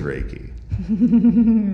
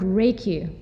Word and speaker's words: Reiki: One is, what does the word Reiki quite literally mean? Because it's a Japanese word. And it consists of two syllables, rei and ki.